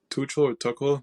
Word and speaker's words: Tuchel: I think one way or another, Thomas Tuchel, the manager from... Yeah, Tuchel, you said it right.